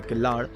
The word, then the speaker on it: Killar: मैंने दिल्ली से राइड शुरू किया तो मैंने इसे किल्लर कॉल किया, आगे जाके कुछ लोगों ने इसे किल्लार कॉल किया और बाद में कुछ ने इसे किल्लाड़। तो अलग अलग जगह अलग अलग प्रोनाउंसिएशन।